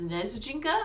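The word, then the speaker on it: Снежинка: They call her and Tucker a word in Russian. I believe it is pronounced Snezjinka.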